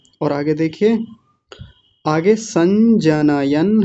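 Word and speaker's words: जनयन्: आगे देखिए आगे आगे संजनायन हर्षम सं जनयन जनयन जन न य न और न जो है वो हलंत है दूसरा वाला संजयन हर्षम ऐसा बोलिए संजयन जनयरम जनयन जनयन ऐसा बोलिए जनयन हां जी बहुत बढ़िया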